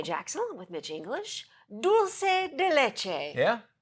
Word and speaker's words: dulce de leche: Dulce de leche.